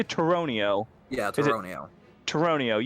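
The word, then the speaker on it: Tauroneo: It's Toronio. I say Toronio.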